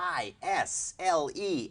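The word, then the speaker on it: aisle: อิงยออิง A I S L E S ไม่ออกเสียงนะครับ isle อย่างนี้นะครับซึ่งมันพ้องเสียงกับคำว่า ISLE ที่แปลว่าเกาะเล็กๆนะครับ isle อย่าชี้ผมไม่ได้ชี้นะครับนะผมไม่ได้ชี้ครับอย่าชี้ผมอย่างนี้ท่านบอกว่าชักปืนยิงผมจากวันโน้นผลงานต่างๆผมมีมากมายพูดจาหยาบคายอวดอ้างอำนาจ ที่ต่อสู้เพื่อสิทธิมนุษยชนที่นั่งอยู่ในนั้นมีนักกฎหมายมีอัยการมีจากตุลาการมี เวลาเขาพูดอะไรเนี่ยบางทีประชาชนไม่รู้ประชาชนก็ไปเชื่อมันก็จะส่งผลกระทบให้กับสังคมเยอะ So, what is your consonants mean?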